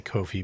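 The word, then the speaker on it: Ko-fi: I say kofi because it's not spelled with a C and two F's and two E's. So it's very clearly a play on coffee.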